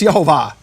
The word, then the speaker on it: Yehovah: And it says, concerning the tetragrammaton, its vowels received from Sinai are shvach olam kamatz. There's no room for Yahweh here. It's Yehovah, according to these rabbis.